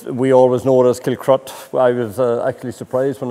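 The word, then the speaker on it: Kilcruit: know it's uh it's we always know as killcrut i was actually surprised when i saw the spelling with the eye in the middle of it um but anyway it's pronounced kill crot it always has been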